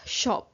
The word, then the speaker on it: scop: सेकंड part हमारा आता है द स्कोप वि is also pronounced as शॉप।